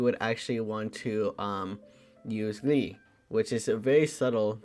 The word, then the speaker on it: gli: So glee, right? There's the glee, right? I just want to show you guys how it's spelled, right? Or how it's pronounced also. The glee, right? Glee. It's very subtle.